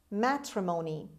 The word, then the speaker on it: matrimony: number two matrimony matrimony matrimony the stress is at the beginning this word is a